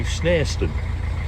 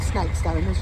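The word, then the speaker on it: Snarestone: the Ashby today we're going to snarston not snake Stones not snow Stones I called it all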